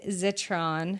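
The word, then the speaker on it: Zitron: He told me about this guy, Ed Zetron. I think I'm saying his last name right. Spelled like Citron but with a Z.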